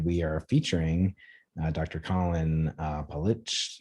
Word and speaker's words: Politsch: Collin Politsch. Is that how you say it, Collin? Yep. Politsch, yep.